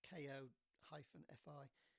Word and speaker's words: Ko-fi: website is that it's ko-fi. They call themselves Ko-fi, I think, but it's supposed to be like coffee, so let's pronounce it coffee.